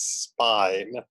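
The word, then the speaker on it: Spÿwn: name as a Celtic heavy metal rocker is Spine. That's spelled S-P-Y with an umlaut W-N.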